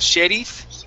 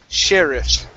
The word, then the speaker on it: sheriff: Okay, give me a good R. Instead of sheriff, it's sheriff. Sheriff.